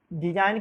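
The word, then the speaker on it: design: डिजाइन में आपका जी, डिजाइन की स्पेलिंग है DISIGN। डिजाइन मीन्स नमूना होता है, इसमें आपको जी को साइलेंट रखा गया है।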